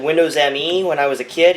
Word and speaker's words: Me: Even Uncle Arthur thought it was pronounced Windows ME back in the year 2000. We never really read PC Mag too well, did we? Yeah, cuz apparently Microsoft intended it for it to be pronounced me like the pronoun.